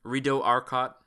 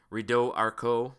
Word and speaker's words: Rideau Arcot: I know that's French and I pronounced it wrong. Rideau Arcot is how it's supposed to be pronounced, but everybody calls them Arcots because we're Albertans and we don't speak French.